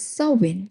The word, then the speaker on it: Samhain: For the Kelts, so spelled as s a m h a i n but pronounced as soin, marked the hinge of